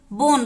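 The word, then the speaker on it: bone: हैं इसमें भी देखिए लास्ट में ई है तो ई का उच्चारण नहीं होता है ई साइलेंट होता है बोन बोन का मतलब होता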